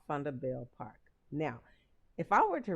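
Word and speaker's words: Vanderbijlpark: a building located in a small town called funda bell park now if i were to read that word here in america i would pronounce it vanderbilt park but it's actually pronounced thunderbale park and it's the home of the val university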